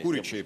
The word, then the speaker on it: Курячий: Мне кажется, что Максим Курячий не прав, когда Куричий. Он говорит... Евгений. Курячий, простите. Извините за неправильное ударение.